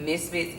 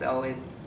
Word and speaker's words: Misfits: So, I do have a website, and it's Messiah Misfits, and Misfits is spelled with Z's. So where you would have the S, it's MIZFITZ, Misfits, not with the S.